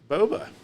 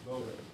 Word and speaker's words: boba: Baba tea. What do you get when you're a bounty hunter? Is it called bubba bubble tea? Bubble tea. Boba. Boba.